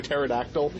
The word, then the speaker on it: Pterodactyl: No, she actually she turns into a pterodactyl.